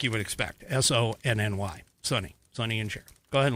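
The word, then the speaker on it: Sonny: Sunny is spelled just like you would expect. S-O-N-N-Y. Sunny.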